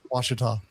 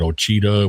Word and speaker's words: Washita: That's like when I first went to work for Little Rock, that the Washita, is that how you pronounce it? Washita. Yeah, man, I couldn't get that right. I think I said Ochita one time, and I don't